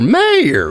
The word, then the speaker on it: Mayr: is mayor mayor mayor it is Mayor I promise you it is Mayor like Goldie Wilson and back the future mayor right yes is Mayor